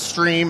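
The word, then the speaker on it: Striim: We are pronounced stream is pronounced stream.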